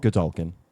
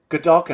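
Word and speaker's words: Godolkin: How do you pronounce the school? Gdulkin. Gdulkin.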